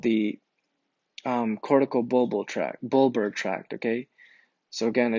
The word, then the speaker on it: corticobulbar: These lower motor neurons and upper motor neurons together are going to be called the Corticobulbar tract, okay? So again, I didn't say it properly, but Corticobulbar tracts, right?